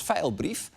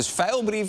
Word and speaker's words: Vijlbrief: So yes, what does that name rhyme with? I think: thief. So Vijlbrief is an awkward last name because it rhymes with thief?